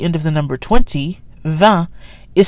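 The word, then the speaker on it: vingt: me event on me the t is pronounced because it's followed by a vowel the T is also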